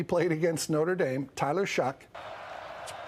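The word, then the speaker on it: Shough: Tyler Shock. It's spelled S H O U G H. So don't look Don't be fooled. There's no Tyler. Don't spell it phonetically.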